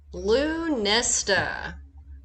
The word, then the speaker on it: Lughnasadh: lunesta yep that's how you pronounce that hey guys i'm savannah earth and